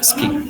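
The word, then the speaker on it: 好き: Jadi seperti suki ya. Itu saya suki. Nah, di sini orang Jepang biasanya jadi ski, ski. U-nya hilang ya.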